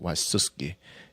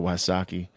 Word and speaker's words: Wysocki: okay cuz mine's polish it's Waki but it's supposed to be pronounced wusi and I don't never I go with the wasaki route I like wasis better actually glad you clarifi a